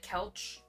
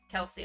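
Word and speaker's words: Kelce: Is it Kelsey? Or is it Kelch? Kelchi? Kelsey, okay.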